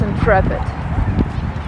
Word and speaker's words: Intrepid: can see it now I always confuse it with in interpret but it's Intrepid that's why I'm trying